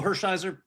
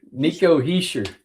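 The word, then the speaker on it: Hischier: But we got Nico Hershiser, Nathan McKinnis. No like oral Hershiser, right? No, not even close. How do you say his name? Heir. Niko Heishir.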